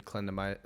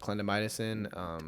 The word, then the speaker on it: clindamycin: Yep, like tretinoin, clindamycin. I didn't pronounce that right, but clindamycin.